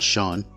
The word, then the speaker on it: Chone: here is a sean figgins yes you do pronounce that shawn so the chone we got david murphy we